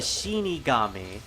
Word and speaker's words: shinigami: shini Kami damn it I keep trying to say Shiki that's not right the shinig gami uh requires a toll